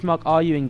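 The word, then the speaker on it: RUIN: Are You In Gaming, spelled Rune. It's kind of spelled Rune Gaming, but Are You In Gaming is how the brand is pronounced.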